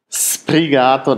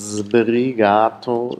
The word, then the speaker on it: sbrigato: Die denken, da steht ja ein S. Also spreche ich ein scharfes, stimmloses S immer aus, mi sono sbrigato, das ist aber falsch, das heißt sbrigato, sbrigato, hier haben wir sbrigato, nochmal die genaue Aussprache, also einmal stimmloser S, dann das stimmhafte S, was sich assimiliert an das B, aber natürlich, dass das